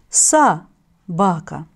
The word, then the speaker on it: собака: Пишем слово «собака», а произносим это слово «са-бака».